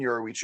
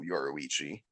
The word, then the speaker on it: Yoruichi: like him and Yoruichi are like hiding in like a cave or